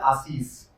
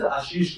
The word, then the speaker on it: Ashish: time in my life I heard my name is AIS right until I went out got the formal education and understood that the actual pronunciation in a globalized English is Ashish right or Ashish right so similarly this is